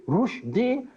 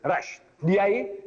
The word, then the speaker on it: Rushdie: And Rushdie, see, Rushdie should be spelled rightly, the way we pronounce. Rushdie, R-O-O-S-H. Rush, D-E-E-D. Name, R-U-S-H. Rush, D-I-E. What is D-I-E? Die! Rush, die, die.